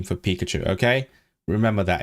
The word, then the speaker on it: Pikachu: Why would you call it Peikayao? It's Pikachu, not Peikayao.